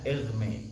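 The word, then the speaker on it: Hermès: Idris bukan merek tas kalau merek tas itu cara bacanya elme itu cara cara bacanya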